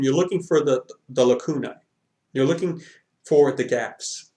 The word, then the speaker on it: lacuna: denominator sorry but the word is Lacuna okay and the plural is Laguna it may be mispronounced that you might hear it as is a different slightly different pronunciation pronunciation but it's Lacuna Lacuna or lacunai are gaps it literally